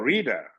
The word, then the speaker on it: Rita: He said, "In America, when there's a vowel before and after T is pronounced D, so it's called reader."